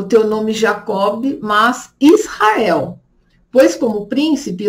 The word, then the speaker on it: Jacob: Então ele chamou Jacó, que na verdade se escreve Jacob, com B mudo, B de bola, mudo no final, então Jacob, que era o irmão gêmeo de Esaú, filho de Isaac e Rebeca.